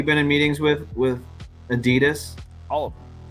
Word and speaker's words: Adidas: in meetings with with Adidas all of them do you say Adidas every time I see I say Adidas really wow okay yeah because honestly they're out of Germany that's how they say it oh okay thank you